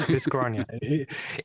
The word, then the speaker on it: Dyschronia: it's Dyschronia.